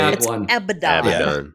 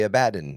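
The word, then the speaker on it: Abaddon: You're not supposed to say Abdon. Yeah. You're supposed to say you're supposed to say abadden. It's supposed to be a bad man.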